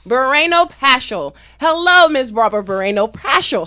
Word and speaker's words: Barreno-Paschall: marara how do you say your last names bareno pasel bareno pasel hello Miss robbert bareno pasel how are you